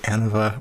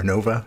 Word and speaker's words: ANOVA: is going to be the Anova or Anova both pronunciations are pretty common and the first note